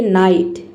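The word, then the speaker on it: night: आपको एक साथ देखें जी एच टी किसी भी वर्ड में तो यहां पे केवल हम टी को पढ़ते हैं जी एच और दोनों साइलेंट हो जाता है जी और एच दोनों को हम साइलेंट रखते हैं उसी तरीके से यहां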